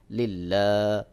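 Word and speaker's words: لله: পেশ তু আত্তাহিয়াতু আত্তাহিয়াতু লাম লাম জের লিল লাম খাড়া জবর লা লিল্লাহ হাজের হি লিল্লাহি ওয়াও সদ জবর ওয়াস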